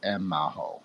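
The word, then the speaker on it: Emaho: Yeah, it's the short 3 syllables, M-Maho, like M-A-H-O.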